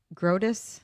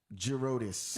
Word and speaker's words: Girodis: His name is John Girodis.